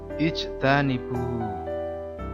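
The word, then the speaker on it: اجْتَنِبُوا: Lafal selanjutnya adalah ijtanibu. Jim sukun itu adalah bacaan qalqalah sukun. Cara bacanya sedikit dipantulkan.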